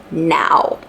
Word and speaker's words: Nao: And now although it is spelled as N A O in like in this book and in English it sounds like now.